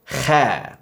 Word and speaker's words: خ: Okay, so this is a little gross, but do that thing where you're trying to bring up phlegm from the back of your throat. Kha, kha, kha. That's the sound.